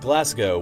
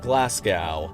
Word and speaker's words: Glasgow: Most cringeworthy of all include the cities of Leicester and Glasgow, which in previous videos I pronounced as Leicester and Glasgow.